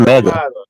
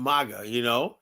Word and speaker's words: MAGA: It's just the right way to pronounce it. It's Maga. It's not Mega.